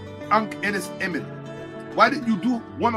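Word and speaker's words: Ankhesenamun: All of these great black women, or Hatshepsut, or Ankhenes Amun, Tutankhamun's wife, Tutankhamun's wife. Let's get the pronunciation right. Emin. Tutankhamun's wife. What? Right? Ankhenes Emin.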